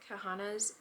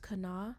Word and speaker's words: Kahana: So this book is called Araya's Kahana's Bollywood Moment. Okay, so correction, is actually pronounced Kana.